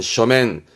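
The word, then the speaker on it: 書面: 서면 발음은 쇼맨.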